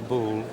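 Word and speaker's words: Boulle: u l l e right after Andre charl bull who was a designer and Furniture maker working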